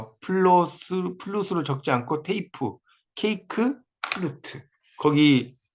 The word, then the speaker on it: 플루트: 그다음에 플룻 연주 이렇게 많이 쓰거든요. 근데 이것도 아니고 플루트라는 거, 플루트 이렇게 발음한다는 거예요.